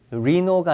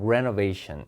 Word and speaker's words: renovation: D번에 발음이 리노가 아니라 renovation. 그죠?